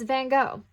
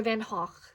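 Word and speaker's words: Van Gogh: let me see oh it's van go or van Hawk if you want me to pronounce his name correctly um so With This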